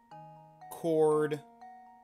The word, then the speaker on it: chord: Chord silent H.